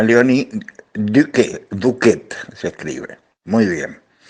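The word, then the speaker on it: Léonie Duquet: Y entre ellas, dos monjas francesas, se pronuncia Alice, Domon, y Leonie, se pronuncia Leonie, Duquet, se escribe.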